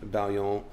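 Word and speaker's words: Baillon: you know type in Bon uh collection and Google and you'll see a bunch of the cards which for our listeners is B A I L L O N. Right. It's a French word and Bradley's pronouncing correctly,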